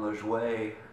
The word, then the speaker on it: Lajoie: This is gonna be my cover of a radio friendly song by Jon Lajoie, as I've been told is the right way to say it.